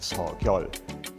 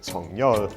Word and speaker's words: Suk-yeol: it would be pronounced Seo-kyol. But the president himself said that he prefers to pronounce it Sung-nyeol, and the institute said